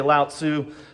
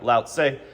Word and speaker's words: Lao Tzu: There are numerous pronunciations, so I feel like I'm okay. I'm in a safe lane when I say Lao Tzu. There may be some other pronunciations like Lao Tse.